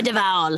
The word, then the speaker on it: Duvall: Trevor Duvall.